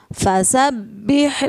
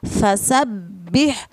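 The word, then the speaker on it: فَسَبِّحْ: dan kata robbika Hai pada baknya terdapat harakat tasydid itu artinya bacanya harus dibaca rangkap ditekan tapi tidak ditahan ya Salah sabbih fasabbih robbika Mbaknya double yang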